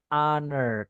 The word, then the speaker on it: honor: atau selanjutnya ada honor ini tulisannya honor bacanya honor ya honor to meet